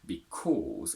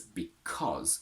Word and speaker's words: because: Its strong form is because, with a quick and short oh.